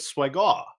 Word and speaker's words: Swagwa: I believe you're looking for the preferred pronunciation, which is Swagwa. Yes, which is what the French like to.